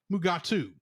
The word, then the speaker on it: Mugato: gumato in the script but DeForest K Kelly who plays um Dr McCoy could not pronounce the word gumato so it was shamed to mugat which Kelly and William Shatner proceeded to pronounced mugatu however Janos prasa was